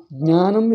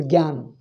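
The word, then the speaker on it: ज्ञान: That Jna is pronounced as Gya. Jnanam is pronounced as Gyan. Therefore, Jagya, they say. It is there in the Veda, it has become common to them. So their Veda Shaka also accepts it. So it has become common to them. So Jagya. So you see, Gyanvapi they call it. GY they pronounce it. They write it as Gyanvapi. It should be Jnanavapi. Jnana.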